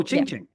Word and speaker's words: Qingqing: I should get the pronunciation of your name correct. Chingchi. Yep. Oh, Ching Ching.